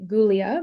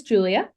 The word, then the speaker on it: Giulia: It's spelt differently, so a lot of times people call me Giulia by mistake, but it is Giulia.